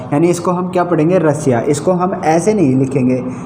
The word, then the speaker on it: Russia: का उच्चारण क्या हो जाए, इस एस का उच्चारण क्या होगा, से हो जाएगा। यानी इसको हम क्या पढ़ेंगे, रसिया।